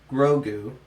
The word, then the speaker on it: Grogu: to train effectively ending mando's mission to return grogu to his people that is how you pronounce it yeah yeah yeah well now i